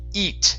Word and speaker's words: eat: Okay, instead of heat, it's E. Eat.